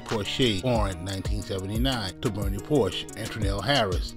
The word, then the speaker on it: Porche: all right let's go Bernie Jamal Porsche cre pronunciation Porsche born 1979 to Bernie Porsche Andel Harris in